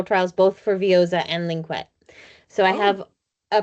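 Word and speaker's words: Lynkuet: Yeah, linquette, I call it.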